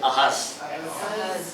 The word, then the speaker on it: Ahaz: Hindi po yung snake, Ahaz lang po. Kasi, pronunciation is Ahaz.